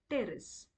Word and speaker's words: Pteris: for for marcelia and P for terce so even here also the p is silent over here we are not going to pronounce it so the teroy examples